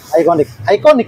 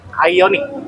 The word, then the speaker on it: Ioniq: Iconic kan? Ioniq. Oh iya, Ioniq. Bacanya Ioniq ya?